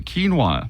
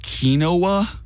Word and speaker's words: quinoa: both said it perfectly quinoa that one's easy uh if you are in the kinoa you are wrong Camp quinoa quinoa what the